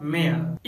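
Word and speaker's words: mayor: Friends सिर्फ दो ऐसा वर्ड्स है जहाँ पर वाई साइलेंट होता है और वो है प्रेयर और मेयर।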